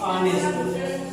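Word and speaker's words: honest: इसको उच्चारण जो लेते हैं तो बनता है क्या? ऑनेस्ट। क्या बनता है? ऑनेस्ट बनता है।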